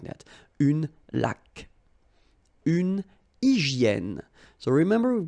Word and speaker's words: laque: When you get this QU, well, U is not pronounced. So you get k, like that. Une laque.